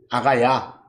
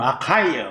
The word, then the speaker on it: 아가야: 아가야 뭐 영어로는 아카이어 뭐 라고 읽어.